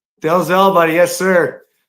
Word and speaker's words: Dalzell: Is it Dalzell? Dalzell, buddy. Yes, sir. I like to pronounce all the letters. Apparently, it was a Scottish name, and some Okay. pronounced it Dazzle, but Oh, Dazzle?